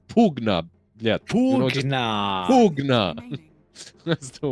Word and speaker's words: Pugna: It wasn't Pugna or anything like that. It was Pugna.